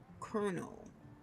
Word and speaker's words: colonel: Like the way it's spelled, it's like colono. It doesn't sound like Colonel, but it's okay.